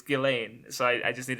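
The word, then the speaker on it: Ghislaine: you're right I I was I was shortening gizan but it's like it's not it's g g it's gilain so I I just need to say it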